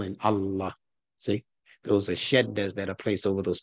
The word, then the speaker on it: shadda: Over the dal, so you pronounce the D twice. Shed, that's the first D. Shed, then da. Shed da. S H A D D A.